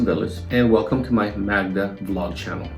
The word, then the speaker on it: Magda: My name is Villas and welcome to my Magda vlog channel. It's spelled M-A-G-D-A, called Magda, and it's not MAGA because I don't want